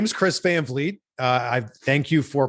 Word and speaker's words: Van Vliet: it but I my my name is Chris Van vet uh I thank you for pronouncing it correctly and I've worked my entire